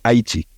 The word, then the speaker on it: Haiti: I have not been in Haiti, so that's how we pronounce the name of the country. It's the indigenous pronunciation, actually, Haiti.